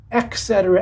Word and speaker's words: etc.: was not mispronouncing it it is ETC the e t sound etc etc etc and